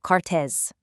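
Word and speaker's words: քարտեզ: In Armenian, that's kartez, which sounds like kartez.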